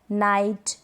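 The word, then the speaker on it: knight: क्या है रूल, के और एन साथ में होते हैं तो हम के को नहीं प्रोनाउंस करते। स्पेलिंग्स जान ले, एग्जांपल्स जान ले, जैसे कि no, knock, knife, नाइट, knowledge.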